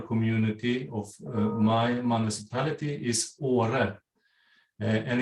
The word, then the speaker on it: Åre: And the name of our community, of my municipality, is Åre. And it's spelled A-R-E, R-E-E, but on the top of the A, we have a little circle, and it's pronounced O, Åre.